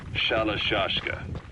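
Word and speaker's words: Shalashaska: Someone must have known about that, because somewhere along the line, Shashka got stuck on the end of Sharashka. The guerrillas were using the name amongst themselves. By the time I got to hearing about it, pronunciation had wound up as Shalashashka.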